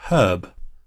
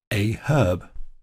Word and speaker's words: herb: Now in UK English, they would pronounce that word herb, presumably because there's an H at the start of it. So if it was an English speaker, they would say a herb.